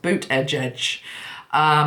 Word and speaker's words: Buttigieg: according to my article it's pronounced boot edge edge so Pete boot Oh